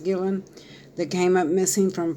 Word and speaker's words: Guillen: female soldier Vanessa Gillen I believe her last name is pronounced Gillen that came up missing